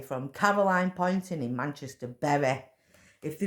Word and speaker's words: Poynton: And my name, Poynton, is Poynton. Because it's spelled Boynton, Poon.